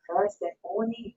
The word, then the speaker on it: Persephone: Drew said Persephone is pronounced Persephone.